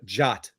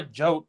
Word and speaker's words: Jote: You lost your train of Jot. Does anyone call you Jot, or is it just me? No, I mean I go by Jote, but Jote.